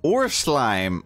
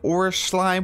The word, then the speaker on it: Urschleim: I think it's German I think it's like or slime we're pretty close enough it's a giant slime